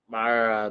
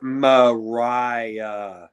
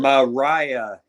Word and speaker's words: Mariah: retain over Myra May Myra it's Maria oh my fault Myra Myra it's not Myra and I know it's it's hard for me to pronounce it Mariah just like the S just like the singer Mariah Cary yeah but I